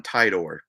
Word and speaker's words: Titor: Um, I think it's John Titor. I think the I is a hard I.